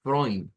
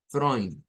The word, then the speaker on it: Freud: Vea, que no decimos Sigmund Freud, vea, decimos Sigmund Freud. Vea, es prácticamente el mismo sonido, con esa OI y esa N, vea, Freud, Freud.